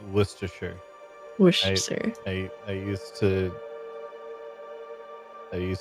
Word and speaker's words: Worcestershire: it looked amazing but he did call it washer sister sauce and I fell out of bed traumatized a great flavor that I don't think the South uses enough but yes he called it wash your sisters by the way it's pronounced Worcestershire I used